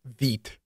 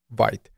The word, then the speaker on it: Vite: called Veet and yes it is pronounced Veet not white now since you will